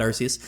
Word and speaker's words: Arceus: I know some people pronounce it other ways, but I call it Arceus.